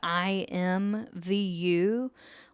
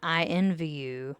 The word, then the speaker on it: IMVU: um a site called IMVU like the letters it's it's not I envy you that's not what I'm saying it's an i m Vu and I have to